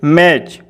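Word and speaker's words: match: सी एच वेच एम ए टी सी एच मैच एफ ई टी सी एच फैच तो देखिए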